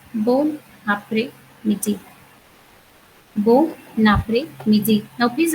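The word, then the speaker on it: bon après-midi: So we in French language we have two words together, and if the second word starts with a vowel, we have to pronounce the whole word together. So this becomes bon après midi.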